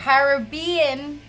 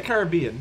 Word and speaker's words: Caribbean: Caribbean. Hot sauce. We say Caribbean. Mm. Americans say Caribbean.